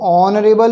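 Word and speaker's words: honorable: और ऑनरेबल मैन, इसमें H silent है, तो इसलिए हो जाएगा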